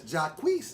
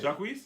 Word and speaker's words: Jacquees: Because Jacquees, is that the right way to say it? Jacquees. Yeah, that way.